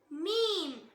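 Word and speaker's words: ميم: Next letter மீம் மீம். இத lips ஓட ஈரம் இல்லாத பார்ட்ஸ், அதாவது நம்ம உதடு வெளியே தெரியும்ல, அங்க கொஞ்சம் ட்ரையா தானே இருக்கும், அந்த இடத்திலிருந்து உச்சரிக்கணும்.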